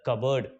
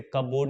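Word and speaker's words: cupboard: Keep the clothes in द कबर्ड। इसे कबोर्ड नहीं कहेंगे। इसे कहते हैं कबर्ड।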